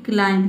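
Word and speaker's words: climb: क्ला यहां प देखिए लास्ट में जो बी आया है ये साइलेंट है देखिए किसी भी वर्ड में एम बी अगर एक साथ आता है एम बी वहां प आपको समझना है कि बी लेटर साइलेंट है यहां पे हम क्लाइम नहीं पढ़ते हैं केवल पढ़ते हैं क्लाइम सील का क्ल हो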